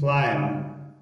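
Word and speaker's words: climb: ګورئ هر کله که چېرته بي یعنې مخکې له بي څخه ام راسي یا له ام وروسته بي راسي نو بي څه شی دی؟ سایلنټ نه تلفظ کېږي.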